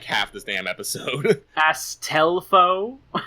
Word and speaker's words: Astolfo: Astelfo? Astelfo. Astolfo. The ass does flow.